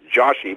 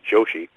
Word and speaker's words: Joshi: you are mercifully enough so many people say it wrong as Joshy but it definitely is Joshi okay and so you